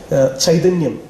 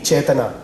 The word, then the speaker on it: Chaitanya: I'm sorry, it's a Malu pronunciation of the Sanskrit word. Okay, Chaitanyam, in Malayalam we call it, definitely Chaitana, the Sanskrit word.